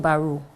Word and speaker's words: Baroe: but librarians they say it by rule it's pronounced name it's b-a-r-o it just baru just baruch yeah baru and yeah what kind